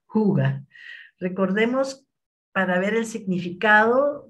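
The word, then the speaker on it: hygge: Es la primera mezcla que ha creado para doTERRA y se llama, se escribe de esta forma hi, pero se pronuncia huga.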